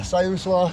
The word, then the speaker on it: Siuslaw: Yeah, Siuslaw. It's pronounced Siuslaw.